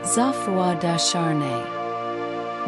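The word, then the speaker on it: Geoffroi de Charney: With him was Gafroy Darnney, pronounced Zafua Dashar.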